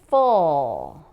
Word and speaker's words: full: Full, not full. Full. There's no oo here. There's no W, no oo sound.